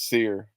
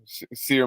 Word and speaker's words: Cyr: But pronounced as Sear, CYR, Sear Malonga.